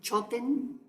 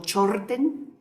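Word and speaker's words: mchod rten: La palabra estupa en sánscrito se escribe de esta manera, en tibetano se dice choten o chorten y en pali tupa.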